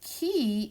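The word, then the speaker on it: qui: there connected and then key means who and it's pronounced like a key and a door key a there's your a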